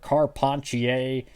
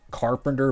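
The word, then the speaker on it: Carpentier: 2008 is a Patrick car ponier I know his last name kind of looks like it's pronounced Carpenter but it's car ponier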